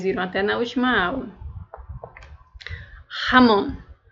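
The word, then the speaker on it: jamón: para ilustrar melhor então o que seria o J A em espanhol ele tem um som semelhante ao ra de português tá colocar aqui uma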